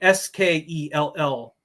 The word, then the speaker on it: Skell: So Skell, it's pronounced similar to skull. So just like a human skull.